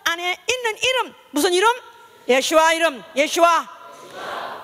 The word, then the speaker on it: 예슈아: 있는 이름 무슨 이름 예슈아 이름 예슈아 예수 예슈아 지저 뭐 수스 다 똑같은 어 말이지만 다 이름이지만 그나 이제 슈아는 바로 히브리식 발음입니다이 시간에도 바로 주일이 세상